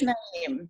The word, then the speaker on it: Naim: It is Naim. Okay, It. is Naim.